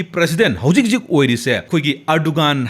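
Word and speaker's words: Erdoğan: हौजिक जिक ओइरिसे खोगी अर्डोगान हाय पाबा मतमददी प्रोनाउंस तौबा मतमददी अर्डोवान हायना पाव हाय अदुमाइना हायरबा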